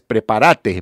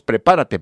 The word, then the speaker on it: prepárate: y se llama fíjese en una pronunciación puertorriqueña es preparate preparate papá en lugar nosotros diremos prepárate papá pero ellos dicen preparate papá preparate aquí se la